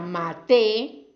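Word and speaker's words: מטה: con varias pronunciaciones diferente la palabra mitá que es cama y la palabra maté no maté maté es vara mit es cama y maté es vara y se escriben igual en el texto original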